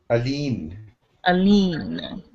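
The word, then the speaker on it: Aline: child's name is arlene that's a l-i-n-e but it's pronounced a-l-e-e-n a lean is it a question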